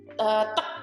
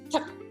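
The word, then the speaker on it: 특: Kalau di Indonesia dibacanya adalah tek gitu kan ya. Litek gitu kan. Tegas banget rasanya. Padahal sebetulnya salah. Sebetulnya dibacanya adalah tek. Tek. Jadi T-nya ini bukan tek gitu tapi lebih ke TH.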